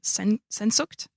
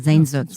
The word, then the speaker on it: Sehnsucht: I'm going to pronounce this wrong. Sensucht? Oh, Sehnsucht.